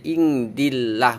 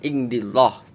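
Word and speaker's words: عند الله: Keterangan daripada lam jalalah tarkik ini sebelum lafadz Allah ada huruf yang dikasroh, maka lafadz Allahnya dibaca tipis, maka dibacanya indillah, bukan indillah, bukan indiwah, bukan.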